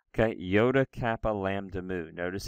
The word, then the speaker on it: lambda: Lambda like an L.